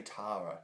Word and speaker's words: Tara: did and of course tara reed or tara reed however you want to pronounce it we say tara in australia because that's how it's spelt anyway she makes a